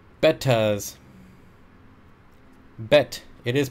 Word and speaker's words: betta: Pronounced bettas.